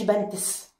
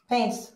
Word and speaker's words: pants: ما تكتش على البي، ما قلتش بنتس. pants.